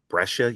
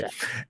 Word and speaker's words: Brescia: She is also a professor at Brescia University. Is that pronounced correctly? Yes, it is. It's Okay. Brescia.